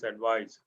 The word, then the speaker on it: advice: Devise, advice. Envelope, prophecy, prophesy. Breath, breathe. Practice. Okay. CE is sa, SE is za. Practice. Devise. Advice. Okay. CE is pronounced sa, SE is pronounced za.